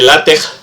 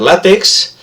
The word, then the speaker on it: LaTeX: Que debería pronunciarse LaTeX, pero lo corriente en español es pronunciar LaTeX.